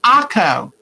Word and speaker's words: Akko: Taco without a T. So it's Akko.